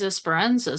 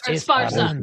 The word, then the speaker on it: Esparza: Work's been fun, and then gonna start a new project with James Esperanza soon. Ooh, Nice. Esparza. I said his name wrong.